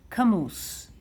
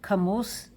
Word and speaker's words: כמוס: And because it rhymes, kemus and sus, so sod, kemus, לפרה ולסוס.